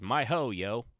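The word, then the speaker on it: miHoYo: my my ho yo i think that's exactly how it's pronounced it's my ho yo um yeah my hoyo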